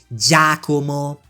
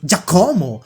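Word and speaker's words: Jacq: And yes, it's pronounced Jakumo, not Jako or Gako.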